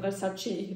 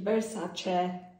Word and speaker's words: Versace: Not Versace, Versace.